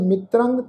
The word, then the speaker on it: मित्रंग: पाठ है जी मित्रंग मित्रंग तत्ते दे पैर विच अद्धा रारा उत्ते टिप्पी की मात्रा नासक उच्चारण करांगे मित्रंग तजंत शत्रंग ससे पैर